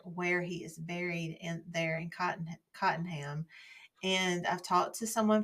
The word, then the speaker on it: Cottenham: And a lady said it's Cottenham, or locals say Cottenham. So I guess I could say Cottenham because I'm not local.